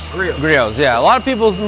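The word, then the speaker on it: Griot: yeah just so you know they say it's Grio G Grio yeah a lot of people mispronounced it I did too when I first heard it but it is Grio and this is the flex 341 and this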